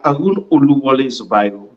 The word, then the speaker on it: Aroun Zubairu: Aroun, please tell who that's na Aroun Zubairu. If I can pronounce him properly, I stand to be corrected. Yes, my name na Aroun Zubairu.